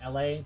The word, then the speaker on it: Elay: And also, it's supposed to be pronounced LA, but I pronounced Elay because it's got an E right there.